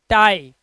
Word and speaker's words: tie: अब देखो, डी के बाद IE आया तो इसे पढ़ेंगे डाई, LIE लाई, झूठ बोलना, PIE पाई, TIE टाई, इस तरह से आप इसका उच्चारण, आई है वर्ड के लास्ट में लिखा